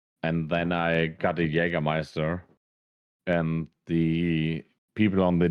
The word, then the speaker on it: Jägermeister: Is it Jägermeister or Jaeger? Yeah, if you want to call or spell it in German, Yeah. you call it Jägermeister.